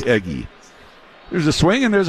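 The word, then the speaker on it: Eguy: the third base but he spells his first name u y I had to check the pronunciation guide on that one and they say it's eggy there's a swing and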